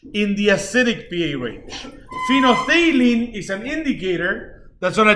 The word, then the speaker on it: phenolphthalein: Phenolphthalein is how you pronounce that.